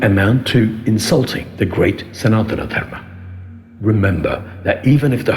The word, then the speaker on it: Sanatana Dharma: It is not Sanatana Dharma, Mr. So-and-so, it is Sanatana Dharma.